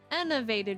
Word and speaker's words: enervate: Today we're going to learn what enervated means. It means make someone feel drained of energy or vitality, and it is pronounced as...